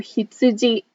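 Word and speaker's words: ひつじ: that we will talk about so you or hitsuji let's write it we'll start with me and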